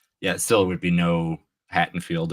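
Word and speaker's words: Haddonfield: still would be no Hatten field or haddenfield right haddenfield yeah I always get the t's and the D's I can remember it's barely pronounced listen our state actually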